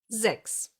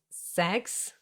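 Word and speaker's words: sechs: Why is it not pronounced as sex? Because most of the time in the German language, an S at the beginning of a word will be pronounced like a Z.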